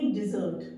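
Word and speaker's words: dessert: word use करेंगे और आप क्या बोलेंगे डिजर्ट ड पे डी पे ड पे आवाज आएगी बड़ी की मात्रा की डिजर्ट I love to ईट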